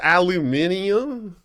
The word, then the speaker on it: aluminium: I just used to call it aluminum, but now it's aluminium.